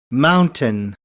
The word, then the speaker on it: mountain: से बोलें, एनर्जी दें, माउंटन। टन पे मैं ज्यादा स्ट्रेस नहीं कर रहा, माउंटन। तो माउंटेन आज से पहले अगर आप कहते हैं तो इसको ठीक कर लें, और इसका प्रोनाउंसिएशन है माउंटन।